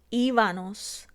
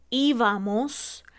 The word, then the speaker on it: íbamos: O cuando cambiamos la M por la N para lograr el plural en los verbos como estábanos, íbanos, andábanos. En vez de decir la correcta que sería estábamos, íbamos, andábamos.